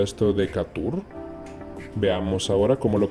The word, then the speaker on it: Decatur: El siguiente es esta ciudad en Georgia, que en español quizás se pronunciaría esto de Decatur. Veamos ahora cómo lo pronuncia el traductor y aprendamos. Decatur.